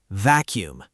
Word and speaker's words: vacuum: Vacuum.